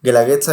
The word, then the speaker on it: guelaguetza: julio justamente O sea la palabra Cómo se pronuncia guandaliza Bueno Este pero significa apoyo mutuo o compartir Ajá guelaguetza Es compartir significa compartir como una especie de